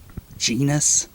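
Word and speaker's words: Genis: gusville jisel I mean it's spelled like penis with a G genus and then we got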